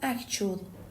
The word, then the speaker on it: actual: مگر اچ به تلفظ اکول دقت کنید من گفتم اکچول صدای چ شنیدید اما برای اکشولی خب صدای ش میشنوید اکشولی اکشولی یک قیده اما